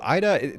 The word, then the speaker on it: Aida: totally random fact um ida and am i pronouncing your first name correctly that's correct okay so ida this is very interesting i actually thought about